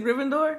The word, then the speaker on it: Gryffindor: a whole lot of fake y'all it's a Gryffindor how you say it huffle be puff no